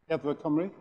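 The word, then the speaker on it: Amgueddfa Cymru: In 2010, he joined, you have to pronounce this for me in Welsh, I'm going to blow it. Edward Cymru.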